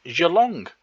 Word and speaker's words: Geelong: Also known as Cardinia Park, out in Geelong, which is not pronounced Geelong, as I thought it might be. So it's difficult with Australians and hard G's, because Kogarah is a hard G. This one isn't.